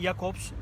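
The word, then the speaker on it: Ismail Jakobs: anılıyor e monacolu oyuncu İsmail jakobs İsmail Jacobs diye de şöle İngilizcede böyle de telaffuz ediliyor Biz Jacobs diyelim tabii sol bek oyuncu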